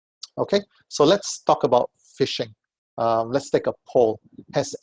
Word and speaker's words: phishing: So obviously, fish or phishing is pronounced just like the way it's spelled.